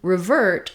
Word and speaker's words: revert: if and an ER but now the ver syllable is stressed so it's going to be longer in duration and the Writ is going to be short it may even sound a little bit like a r sound because here rather than the Clear Long e in River it's going to be a shortened reduced vowel revert so it's still